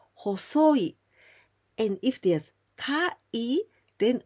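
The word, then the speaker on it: 細い: When you see this kanji with okurigana I, only I, then we pronounce hosoi.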